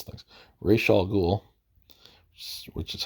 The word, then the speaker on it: Ra's al Ghul: I've heard it pronounced a bunch of different ways. Even Raz al Ghul, I've even heard that. That one doesn't sound quite right because I wouldn't, if it was Raz or Ras, I wouldn't put the apostrophe. I wouldn't think you'd need the apostrophe to pronounce it at that point.